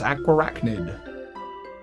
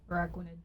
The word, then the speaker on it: Araquanid: It's hanging out with the likes of Ariados and Galvantula, and the Pokemon I always mispronounce, Aquarachnid. Wait, was that right? Araquanid.